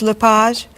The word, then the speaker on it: Lepage: Is your last name pronounced LePage? It's Lepage, actually.